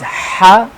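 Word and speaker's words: ح: So first one is ha. Ha is the mid of the throat letter, ha. This will be pronounced when we will enclose our throat, ha, like it has special sound, ha, ha.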